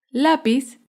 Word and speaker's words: lápiz: es la palabra lápiz lápiz es una palabra grave porque se acentúa en la penúltima sílaba lápiz un ejemplo de